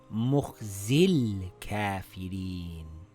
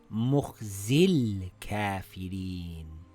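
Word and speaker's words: مُخْزِى ٱلْكَـٰفِرِينَ: Now we see the lam has a sukoon and before it there is a long vowel. We drop the long vowel. Now we read it together as Mukhzil Kafirin.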